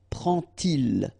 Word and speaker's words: prend-il: And so this little d here is in red just to show you that you won't pronounce it like d to make the liaison, but you will pronounce it like t. And so you will get prend-il, okay?